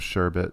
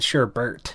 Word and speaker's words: sherbet: common misspelling of sherbet sherbert is a common misspelling of sherbet that resulted from a common mispronunciation unlike sherbet sorbet does